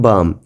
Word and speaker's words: balm: बच्चों ये CALM काम नहीं पढ़ा जाएगा, कालम नहीं पढ़ा जाएगा, बल्कि क्या पढ़ा जाएगा, काम पढ़ा जाएगा। जैसे BALM बाम, M से पहले जो L है ये साइलेंट हो जाएगा।